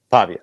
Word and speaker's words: Pavia: Diego Pavia did you say his last name Pavia am I say that right I always mess this up yeah that's right is it I mean he's an electric story too uh pava Pavia okay I'm saying it right your boy's not